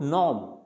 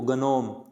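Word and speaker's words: gnome: Silent हो जाता है, तो नॉम। अब इसको कई विद्यार्थी जिनको ये साइलेंट लेटर्स का पता नहीं होता, वो क्या बोलेंगे इसको, गनोम, तो इसको गनोम नहीं बोलना, इसको क्या बोलना है, नॉम।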